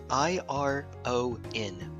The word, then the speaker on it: iron: How do you pronounce the word I-R-O-N? Iron. Iron. Okay, so you say iron as if it were pronounced I-E-R-N. Yeah, but it's like spelled iron.